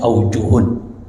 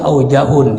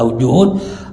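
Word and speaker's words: أوجه: dari ulama-ulama Mazhab Syafi'i bacanya aujuhun Ya aujuhun itu beberapa pendapat dari ulama ulama Mazhab Syafi'i sebab ada orang baca aujahun ini enggak tepat kita lihat di sini bukti bahwa yang benar adalah ajuhun Asa tu yang membenarkan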